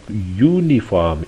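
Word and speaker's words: uniform: इसलिए वो कहते हैं sound like यूनिफॉर्म it start with ए Y sound not अ vowel sound.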